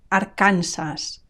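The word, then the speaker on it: Arkansas: it said Arona Arona Aransas Aransas notice the stress it's on the second last syllable Aransas and notice also the final s i don't drop it Aransas Aransas California California notice that in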